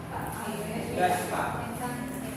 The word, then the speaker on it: Yuyaspa: Yuyaspa. ¿Cómo se pronuncia? Yuyaspa. Ok. ¿Cómo se llama la canción? Miren como yo lo pronuncié bonito. Apréndanlo a pronunciar bien.